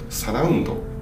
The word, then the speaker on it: 茶楽音人: 茶楽音人と書いてサラウンドと呼んでいただいてます。